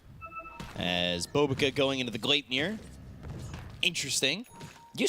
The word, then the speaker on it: Gleipnir: Swedish people are not going to be too happy about that pronunciation. But it, I usually stick to Gleipnir.